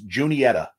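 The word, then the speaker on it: Juniata: but and pronounced differently j-u-n-i-t-a I think that's how it's it's junietta Junior okay the second one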